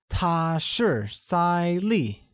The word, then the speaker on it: 她是赛丽: She is Sally translates to 她是赛丽 which is pronounced with a high level tone on A and a falling tone on I.